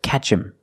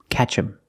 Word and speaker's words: catch him: I say catch him him is not a stressed word so the H is silent so you hear catch him catch him did they catch him